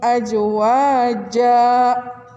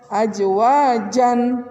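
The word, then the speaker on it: أزواجا: iwad ke-8 nya waholaknakum ajwaja kita tidak membacanya azwaajan tapi ajwaja vanwin patahnya yang harusnya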